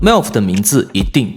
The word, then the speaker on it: MEOVV: Among the 2024 rookie girl groups, MEOVV (pronounced "me-ow") is a name you can't overlook.